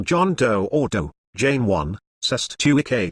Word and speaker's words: Cestui Que: doe ordo jane one cessed tui k trust pronounced certain ki common term in new